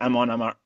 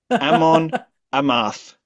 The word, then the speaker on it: Amon Amarth: again, I believe in Sindarin again, the literal translation of Mount Dune is Amon Amar Amon Amar I cannot pronounce Elvish. Amon Amarth.